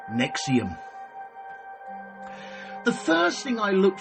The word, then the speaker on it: NXIVM: at the company itself spelled NX i v m and pronounced Nexium the first thing I